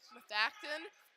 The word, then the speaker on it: Methacton: Is that how I pronounce it? Methacton, yes. Methacton, only doing long range, and it's.